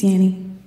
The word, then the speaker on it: Yanny: Can you do it now? Yanny. It's Yanny.